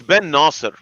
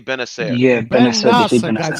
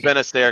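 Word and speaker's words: Bennacer: bener or bener it's Ben Naser but people say bener get it right get it right I just say benair because I'm just like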